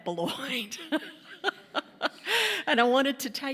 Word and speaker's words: Boilott: b and my name is spelled like boilot so if you're confused and think I'm somebody else I'm not I'm booy and I wanted to